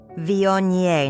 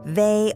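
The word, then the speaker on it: Viognier: At a Christmas dinner, she asked what wine I preferred, then corrected my pronunciation with a saccharine smile. Vion, not vey.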